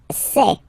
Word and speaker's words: sais: Je sais. Okay, final S not pronounced, and then you get this A-I-E.